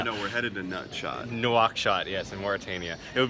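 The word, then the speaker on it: Nouakchott: Nutshot. Oh no, we're headed to Nutshot. Nuakshot, yes, in Mauritania.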